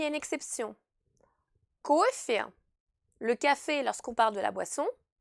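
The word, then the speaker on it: кафе: Alors vous entendez qu'ici, la lettre Y se prononce E et pas Y. Alors ici, c'est une exception car il s'agit tout simplement d'un nom d'origine française et on a voulu rester proche de la prononciation d'origine.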